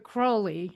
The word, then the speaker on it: Crowley: You've written a bunch of books about Aleister Crowley, as he pronounced it, and I'm Crowley.